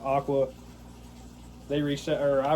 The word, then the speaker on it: AQQA: Um, AQQA, I guess you pronounce it Aqua.